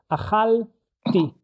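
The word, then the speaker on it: אכלתי: the same akhal, and when I pronounce it, I actually create a new syllable. I make this tiny stop, and then I will add the the suffix for I did it, ti. Akhal ti.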